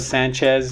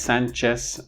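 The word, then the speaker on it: Sánchez: So in this sense, if you start speaking Spanish as an English speaker, you need to pronounce these last names with a sa at the end. So instead of Sanchez, Gomez, Hernandez, and Diaz,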